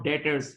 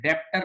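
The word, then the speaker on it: debtors: भी बोलते हैं और डेटर्स ये डी ई बी टी ओ आर एस लेकिन इसका बी साइलेंट होता है। डेटर्स बोलते हैं। बोलते हैं डेप्टर नहीं बोलेंगे डेटर्स।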